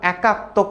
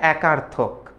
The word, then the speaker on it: একার্থক: প্রকল্প কয়েকজন উত্তর দিয়েছো একাত্মক পরিকল্পনা একাত্মক না এটার উচ্চারণটা হচ্ছে একার্থক এক আর্থক ওকে একার্থক অর্থাৎ যে